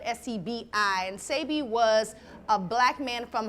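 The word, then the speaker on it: Sebi: Sabi. You gotta stay up. Yeah, Yes. Dr. Sabi, if you're not familiar with him, especially my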